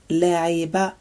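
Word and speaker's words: لعب: This one is pronounced shakara, shakara, and it means to thank. This is la'iba, la'iba, la'iba, and it means to play.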